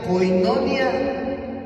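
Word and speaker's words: κοινωνία: original Sí en el original hebreo se se pronuncia koinonia y significa tener en común tener en común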